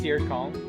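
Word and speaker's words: Caer Kon: shortcut Kong yeah is it pronounced sir Kong I couldn't tell you c a e r c o n c a e r k o n i d yes that's the town air coning so that is so he said he he fully said the same thing I did just in in properly and I go ah yes I pronounced it the Elish way he pronounced it the dorish way I'm sure he took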